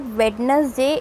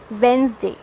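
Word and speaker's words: Wednesday: silent तो interest received it इज नॉट वेडनेसडे इस वेनसडे okay तो एक्चुअली में आपने क्या किया है आपने डी एन ही हटा दिया है साइलेंट कर दिया है और इट इज वेनसडे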